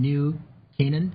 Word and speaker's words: New Canaan: She's the adolescent consultant at Silver Hill Hospital in New Canaan. Is that how you pronounce that?